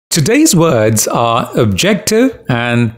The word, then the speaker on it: objective: you pronounce the words it's objective the second syllable is stressed subjective again second syllable